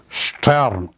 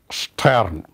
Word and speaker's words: Stern: kinder kinder the stern you know st and st and sp they come it has a sound stern stern like that's a sp spirit to play so that's